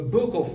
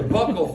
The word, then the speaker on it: buccal: face or buccal phase it sounds weird to call it buckle because it makes it sound like it's a belt buckle but it's technically a more per current pronunciation here here's the thing the